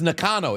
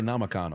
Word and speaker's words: Nakano: So it's Nakano. It's Nakano. See, I was gonna say Namakano. I always end up putting an M in there.